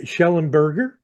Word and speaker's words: Shellenberger: His name is Lloyd Shellenberger, and I'm pronouncing that correctly, aren't I, Lloyd?